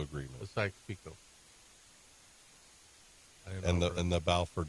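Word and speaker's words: Sykes–Picot: the B four is that the way it's pronounced right keep going Tom declaration and the taes peacott agreement so you can understand why you're constantly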